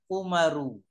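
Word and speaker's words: عمر: Ayub Perhatikan baik-baik ya lihat penulisan Amr ber kalau ada Ain mim ro terus wa bacanya dialah amrun atau Amr kalau Umar itu tanpa wawu Kalau tidak ada waauya membacanya adalah umaru umaru dia harus paham betul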